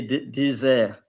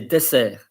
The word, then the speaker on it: dessert: main dish, and the dessert. And dessert, I think, in English. So always say the double S with S. You don't say dessert, you say dessert.